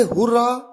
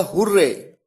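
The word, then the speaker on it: hurrah: पहला एग्जाम है हुरा इसे हुरा या हुर्रे दोनों तरीके से प्रोनाउंस किया जाता है मन में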